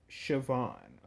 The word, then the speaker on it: Siobhan: one of the new subscribers was able to pronounce the name for me thank you for that by the way her name is Siobhan um she was able to find Louis was